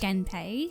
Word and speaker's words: Genpei: Genpei, yes.